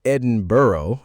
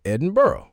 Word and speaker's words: Edinburgh: You say Lester, we say Lester. You butcher British place names. We don't butcher them. We just pronounce them differently. And you say Edinboro and we say Edinburgh.